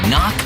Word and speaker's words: knock: letter in kite and a silent k is also the first letter in knock over if you don't look